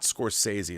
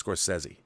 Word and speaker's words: Scorsese: Actually, it's not Scorsese, it's Scorsese. I believe that's the proper pronunciation of his last name.